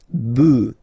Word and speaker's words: bœufs: just add this s, but then pronunciation changes quite much, because you get des bœufs, alright, un bœuf, des bœufs, alright.